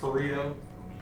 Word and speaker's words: Pareto: How do you say the one that's like Jacob's largest to small and it's like just Pareto.